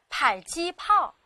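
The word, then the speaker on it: 迫击炮: 注意了，下次看到这个词的时候，记得它念迫，迫击炮。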